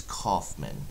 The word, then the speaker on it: Kaufman: one it's not George it does kind of sound like Holland but it's but it's Kaufman is the way that it's pronounced thank you very much